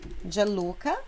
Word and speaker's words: Gianluca: Gianluca, G explosivinho, Gianluca.